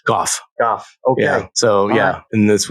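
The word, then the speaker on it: Gough: How is that pronounced? Goff.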